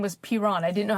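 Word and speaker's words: Piran: Piron. Okay. Pyron, you know. All right. Well, thank you, unpronouncable cat name.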